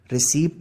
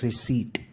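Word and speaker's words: receipt: Guys ये तो ना तो ये रिसीप्ट है ना ही ये रिसेप्ट है, ऐसा कुछ नहीं है। The right pronunciation of this word is रिसीट। इसकी जो राइट प्रोनाउंसिएशन है वो रिसीट है गाइस।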